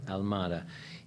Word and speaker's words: Almada: How do you pronounce his last name? Almada.